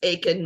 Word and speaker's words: Eakin: Well, it's because it's spelled Eakin, but it's pronounced Aiken.